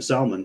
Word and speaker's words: Salman: So anyways, Prince bin Talal and Mohammed bin Salman, which I also got to say, that's the only time it's okay to pronounce the L in Salman.